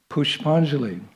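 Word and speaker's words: पुष्पांजलि: festivals uh called pushpanjali I have to change this with my pronunciation is not correct in Sanskrit technically pushpanjali it means flower festival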